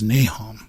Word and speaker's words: Nahom: so it's nhm and the pronunciation in the Book of Mormon is nahom MHM right and so